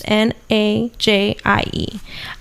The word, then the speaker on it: Nige: Nige is Najie. Well, spell out your name too, because a lot of people spell it.